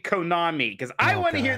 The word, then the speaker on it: Konami: Konami is how I actually say it.